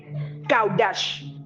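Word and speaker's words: qadash: Le mot consécration en grec, kaudash. Ça s'écrit Q-A-D-A-S-H.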